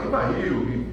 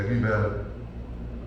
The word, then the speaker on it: Rivail: De falar Rivail, ou Rivail, mas na verdade a pronúncia, se você for levar no francês, é Rivail, né?